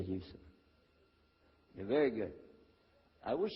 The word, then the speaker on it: Yusuf: My name is Yusuf. Can you say Yusuf? You say Yusuf. You're very good. I wish you'd teach my wife. She keeps mispronouncing it. She calls me useless.